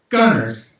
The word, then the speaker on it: Gonerz: Gonerz, like the word Gonerz, but with a Z.